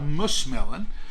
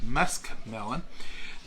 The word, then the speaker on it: muskmelon: these are what we've always called mushmelon or pronunciation should be musk melon but you can see